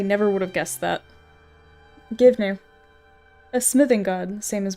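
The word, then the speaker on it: Goibniu: The Irish name is pronounced phonetically as Gwivnu, with some variations including Givne.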